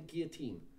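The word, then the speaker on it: guillotine: have been killed by the gear team as they spell 18 because it's french you see they don't pronounce all the letters rich people all over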